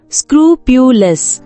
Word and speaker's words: scrupulous: இந்த வேர்ட் எப்படி ப்ரொனவுன்ஸ் பண்ணணும்னா ஸ்க்ரூபியுலஸ், ஸ்க்ரூபியுலஸ்.